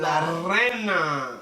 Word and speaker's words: La Reina: Am I saying it right? La Reina. La Reina. Yes. Hey, that's la ra. Yeah, exactly. You gotta roll the R.